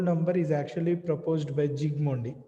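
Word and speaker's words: Zsigmondy: Gold number is actually proposed by Zygmundi. S is silent. S is silent. Zygmundi.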